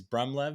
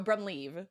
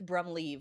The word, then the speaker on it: Brumleve: say your last name it's close so brumleave so i i've heard all the different pronunciations throughout the years but bruh blyth brom leave like you're leaving a party leaving the party uh